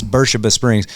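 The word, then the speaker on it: Beersheba Springs: And um it's spelled beers, but they really get mad at you if you but it's called it's Bura Springs.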